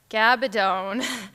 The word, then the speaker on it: Gabaldon: region tonight Deb will be talking with Diana gabadone and yes it is pronounced gabadone I have been working on it all day